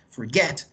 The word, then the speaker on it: forget: Forget, en este caso forget, lleva el acento, el stress, en la última sílaba y termina en consonante, vocal, consonante.